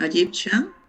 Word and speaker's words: Egyptian: Yo dije que las T más IO y las T más IA. ¿Ok? Imagination, Egyptian, partial, situation.